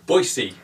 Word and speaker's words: Boise: or is it Boise how do you actually pronounce that Nick any ideas Boise Boise Boise right and finally say top of